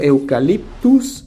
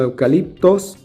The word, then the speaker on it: Eucaliptus: proviene su nombre pero que no como eucaliptus y no como eucaliptos porque en el idioma aymara es muy usual pronunciar la letra o que o eucaliptus era